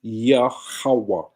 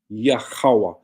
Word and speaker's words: Yahweh: Yah, ha, wa, ah, which pronounces Yahweh. Yah, ha, wa, ah. Yahweh.